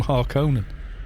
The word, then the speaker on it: Harkonnen: of that i mean in in the dune books the harkening are called the hearkening it's how it's spelled but in the 1984 film whoever was reading the lines went no but then everyone in the movie calls them harkonnen it's not the harkening of google translate yeah well the more